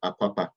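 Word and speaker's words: Akwa Akpa: terrible things that happened in Biafraland, especially in Akwapa, the place called Akwapa, in the 1800s, 1880s, it was Akwapa. That's that place called the island Calabar today was called Akwapa. Akwapa.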